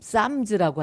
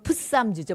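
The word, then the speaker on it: Psalms: 그데 영어 성경은이 헬라를 그대로 따라서 저렇게 쌈 쌈즈라고 하죠. 쌈즈. 근데 피가 묵음이란 말이에요. 이걸 묵음을 안 하면 풋쌈즈죠.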